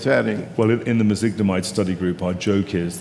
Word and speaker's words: mezigdomide: So what is it? Meglizumab? I can't even pronounce it. It's mezigdomide. Mezigdomide, okay.